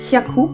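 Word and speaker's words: 百: quelques éléments de précision, en l'occurrence sur la prononciation. Par exemple, si je prends le mot hyaku, qui veut dire 100, 200 ni hyaku, par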